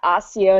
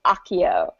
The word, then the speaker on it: Accio: was like, no, it's not Accio, it's Accio, and we're like, oh, do that for us.